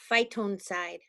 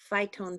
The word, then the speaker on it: phytoncide: So Jen, I looked up that word and it's called phytoncide. That's how you pronounce it. Phytoncide.